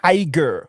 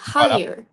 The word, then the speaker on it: higher: Euh là le G il est quand même mué c'est higher s OK c'est très